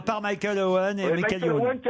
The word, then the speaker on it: Michael Owen: Michael Owen. Michel Owen, Manchester. Je dis à la française, il faut savoir, la française, la japonaise, qu'est-ce que vous voulez? Bah, comme ça se prononce. Michael Owen.